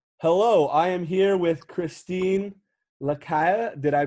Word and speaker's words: Chrystine Lacaille: is our conversation hello i am here with christine lakaya did i pronounce that right that was perfect that's great